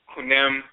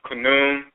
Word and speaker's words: Khnum: is Kunwem, often pronounced Kunwem or Khnum. The whites and their offspring didn't understand how to pronounce the name. When they transliterate the name, they typically simply use the consonants.